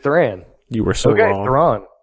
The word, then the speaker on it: Thran: that pronounced Asian guide is it a tram or is a throng oh oh I actually don't know if that's on there I am looking it up right now dance I I think we need to settle this once and for all because I just throng throng there we go because the pronunciation guy that says th are a hn there we go yeah we